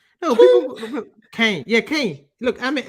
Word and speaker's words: Caen: You don't say can, do you? Like can of beans. It's Kane. Caen. Oh, come on, guys. I'm not even taking the piss now, but can someone tell me how you pronounce Caen? Kane. It's Kane. It's not can, is it? Cans would be like can, Canes, but this team was called Kane.